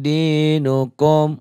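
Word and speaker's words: دينكم: Lakum dinukum, wa-nya kosar. Ini dibaca jelas, dinukum, kom idhar harus dibaca jelas.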